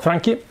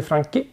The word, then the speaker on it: Franchi: Ja, uttalar man det så? Franchi. CH blir Franchi.